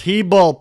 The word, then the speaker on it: Hebel: dr bruce and tony hebel it's pronounced heeble people they told me